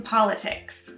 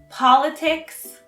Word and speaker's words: politics: politics politician and political notice two things first politics always has an s at the end second politics and politician have the stress on the first syllable and political has the stress on the second syllable politics politics politics politics